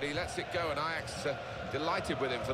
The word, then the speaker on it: Ajax: if they're called Ajax, Ajax in Dutch, if that's how it's pronounced in Dutch, that's fine. But in English, that's Ajax.